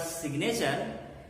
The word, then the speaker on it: signature: name what's up why another interesting example is g n sign g is silent but when you use the word signature you don't call it signature the way you made g silent you are not keeping g silent in signature his sign his signature